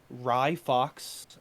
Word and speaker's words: Ryfox: fox character is named ryfox um it's actually a slightly uh pronounced a lot like rye bread just uh with an a in the front of it um and he is